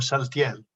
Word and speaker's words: Saltiel: Más hay unos cuantos nombres que en hebreo se escriben con shin, más en español se pronuncian con es como salem o saltiel.